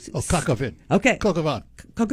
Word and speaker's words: coq au vin: Coq au vin. Oh, coq au vin.